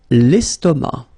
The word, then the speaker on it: estomac: L'estomac. L'estomac, okay, same thing here, final C not pronounced, and then M means that this word, estomac, is masculine, okay.